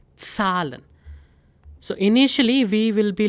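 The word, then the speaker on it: Zahlen: So numbers are called salon. Salon. So here you need to make sure that there is slight t sound ts sound in it. So it's salon.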